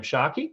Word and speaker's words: Tscharke: I should lately but it's just my last name Sharky so it's a Sharky which is it's pronounced Sharky but spelt TS ch AR ke so you can go